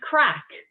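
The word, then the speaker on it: craic: spelled a spell if you're first before i pronounce it is c-r-a-i-c and it's it's what do you think it was okay it's crack means fun it means fun in the irish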